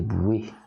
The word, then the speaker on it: Bois: You know, when I heard Nymphe des Bois, and it's pronounced Nymphe des Bouées, from I think it's Josquin des Prés, it's absolutely gorgeous.